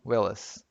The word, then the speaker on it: Willis: com o Bruce Willis a pronúncia brasileira do nome dele Bruce Wills que é o willas caso você não tenha